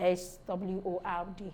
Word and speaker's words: sword: not pronounced in answer sword some people pronounce it as word I mean they feel the W should be pronounced but today we are knowing that W is not pronounced in the word the s-w-o-r-d sword not sword that we have to